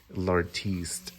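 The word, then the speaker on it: L'Artiste: what they call their lartiste and I I'm probably saying it wrong but it's l apostrophe r artiste with an e at the end like the artist uh so this is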